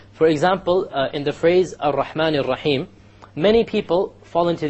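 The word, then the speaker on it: الرحمن: And they'll say, Ar-Rahman Ar-Rahim. I'm exaggerating so you understand what the mistake is. Okay? This is a mistake. You cannot allow the tongue to roll.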